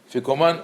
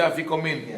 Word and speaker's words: afikoman: How do you say afikoman or afikomen? איך אתם אומרים? afikoman. Okay. You say afikomin. Yeah, some say afikomen. Right? It's what? Afikoman. So it's a Greek word.